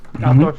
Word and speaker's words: Altdorf: Did I pronounce it right? Altdorf, yes.